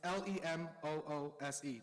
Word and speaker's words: Lemus: Lemus, and but I spelled Lemus the way it's supposed to be pronounced. It's Lemoose, like a French moose. Lemus? Nice. I did it that way because people be saying my name wrong. Lemus, it's not Lemus.